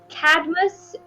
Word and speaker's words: Cadmus: It's Cadmus, pronounced like Cadouche. Like Cadbury eggs.